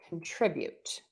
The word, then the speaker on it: contribute: So I'm going to say contribute. So contribute. Be sure to stress that middle syllable. It's not contribute, it's contribute.